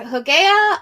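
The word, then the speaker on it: Hygieia: that I honor are Huga um which would be spelled with a Y but again I speak keric which that that Y sound is actually more like a short u um but Huga is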